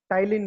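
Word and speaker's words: Ptyalin: ध्यान दीजिएगा, एमाइलेज, या इसी को हम लोग टाइलिन भी कहते हैं। स्पेलिंग टी से शुरू होता है, PTYLIN, टाइलिन भी कहते हैं।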